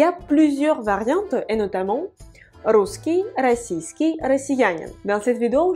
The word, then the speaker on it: русский: Русский. À votre avis, où est l'accent tonique? L'accent tonique est sur le U. Русский.